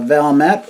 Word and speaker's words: Valmet: Yeah, this is the uh Valmett or Valme, depending on your pronunciation.